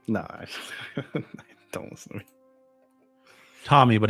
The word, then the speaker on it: Thomby: Tommy, but it's spelled THOMBY.